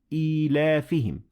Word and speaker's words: إِيلَافِهِمْ: Now, as you can see, there is no ya in the word إِيلَافِهِمْ. But there is this sign which tells us that there is a ya that we should pronounce it.